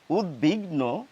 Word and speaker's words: উদ্বিগ্ন: কিন্তু তা একেবারেই নয় ব ফলা থাকলেও এই শব্দগুলির উচ্চারণে ব এর উচ্চারণ রক্ষিত হবে দীপ্ত হবে না আমাদের এই শব্দগুলি বলা উচিত উদ্বাই উদ্বিগ্ন উদ্বেগ উদ্বেল উদ্বোধন অর্থাৎ